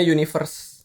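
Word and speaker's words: 1VERSE: Nama orang dibacanya universe. Universe. Jadi tulisannya satu ver tapi dibacanya universe.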